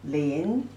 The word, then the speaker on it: 林: In pronunciation, 了音, lin.